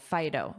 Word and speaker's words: phyto: And notice that pronunciation, phyto, phyto, like phone, but this is a i, fi, phyto, phyto. So, thinking about this definition, this adjective is very commonly used to describe food.